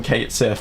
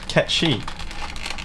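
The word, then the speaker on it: Cait Sith: I called them Kate Sith for decades. Frankly, and then someone told me, "No, it's actually pronounced Ketchi."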